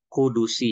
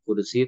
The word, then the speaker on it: qudsi: bab alhadis al qudsi qudusi ya. Nah, jadi ternyata pelafalannya bukan qudsi tapi qudusi. Alhadis al qudusi ya. Qudus ya gitu ya. Jadi ee huruf dalnya itu bunyi ya, bunyinya domah.